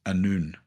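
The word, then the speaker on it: Annwn: It turns out it's pronounced Anun.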